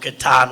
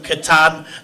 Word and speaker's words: Catan: game, the Settlers of Catan, and he wrote back a response that he wrote it as a post online, and it said you pronounce the ka like in karate, and then he typed